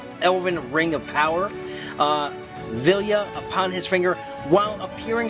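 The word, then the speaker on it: Vilya: that ring I know I've been mispronouncing it I've been throwing an end in there but it is villa which also allows him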